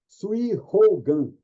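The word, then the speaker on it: 水泡眼: Sui Hogan. O H no japonês é igualzinho o verbo to have do inglês. Ele é aspirado, né? Sui Hogan.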